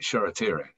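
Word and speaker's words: Shoretire: the hard part um charity ray is spelled short eye he's manchester united's new starlet it's spelt e s-h-o-r-a t i r e tire that sheratiri i have to find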